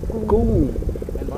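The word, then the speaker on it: กุ้ง: Shrimp in Thai language is gung. Gung. With a G sound in the front.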